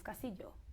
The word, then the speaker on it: Castillo: And it's not Castillo, it's Castillo.